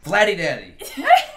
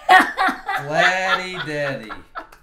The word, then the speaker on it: Vladdy Daddy: It rhymes with dad. Vladdy Daddy. Vladdy Daddy.